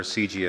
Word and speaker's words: CIGI: for international governance innovation or CG as we say my name is Fred